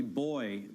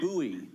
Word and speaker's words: buoy: Well, you say, now you've been in London long enough that you say boy, but we know it's buoy.